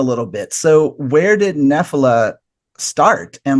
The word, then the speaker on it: Nephila: me about now again Nephila. Yeah. Oh wow, okay, good. It's more of an American pronunciation on the band name, actually.